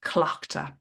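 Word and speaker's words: Tlachtga: We will celebrate around the fire, and we'll also connect deeply with Clochta. So that is TL, but it's pronounced like a C-L, Clochta.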